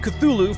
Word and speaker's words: Cthulhu: my own real-life sanity I'm gonna stick with Cthulhu for the rest of this video on potential series just because it sounds beautiful and I think it's the most accepted pronunciation anyway that is a